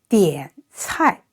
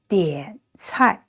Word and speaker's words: 点菜: And 点, so 的, 一, an, and third tone, 点. And this one is 吃, I, the folding tone, 菜, together, 点菜. To point the dishes, 点菜.